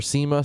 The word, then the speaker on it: SEMA: He's currently driving up to uh for SEMA. Sema, how you pronounce it?